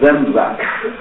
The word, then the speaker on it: Samsa: O nome dele é pronunciado com S em alemão, como se fosse Z, Samsa.